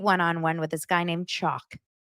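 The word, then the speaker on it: Chock: with this guy named chalk that's not a a mispronunciation his name is chalk spelled CH o CK they went to Disneyland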